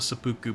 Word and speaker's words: seppuku: Let's pull a seppuku before we go in. Seppuku! That's how you say it. Gotta put the emphasis on the poo.